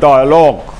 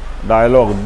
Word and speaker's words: dialogue: Passage narration মূলত one kind of ডায়ালগ। ডায়ালগ বানানটা তোমরা ভালো করে জানার চেষ্টা করবে। বানানটা হলো ডায়ালগু, কিন্তু উচ্চারণ ডায়ালগ, DIALOGUE।